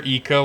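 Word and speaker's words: Ico: Colossus man never played IO or Eco or however someone wants to pronounce I've heard both ways um both probably as accurate as each other to be honest but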